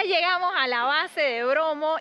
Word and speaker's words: Bromo: al volcán, porque curiosamente Bromo en idioma javanés se pronunciaría Brahma, como es el dios creador del hinduismo.